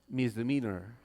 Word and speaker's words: misdemeanor: e a n o r how do you pronounce that uhhuh misdemeanor okay so theor felony theor MISD demeanor uhhuh